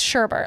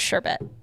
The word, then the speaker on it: sherbet: you spell it and I was like it's Sherbert like I was passionate about it and then so we stopped and said spell it and I start spelling it and I spell it correct correctly and it's phonetic spelling which is sherbet she said s-h-e-r-b-e-t Sherbert